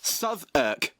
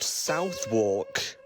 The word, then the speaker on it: Southwark: And yes, it's pronounced Sav. Why couldn't it just be pronounced Southwalk?